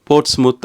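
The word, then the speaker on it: Portsmouth: முத் என்று வாய்க்குள்ள ஒரு மாதிரி வாசிக்கணும் எனவே போட்ஸ்முத் போர்ட்ஸ் முத் அப்படி என்று வாசிக்கணுமாம் இந்த உச்சரிப்பு எல்லாம் சரியான உச்சரிப்பு என்று நான் சொல்ல வரையில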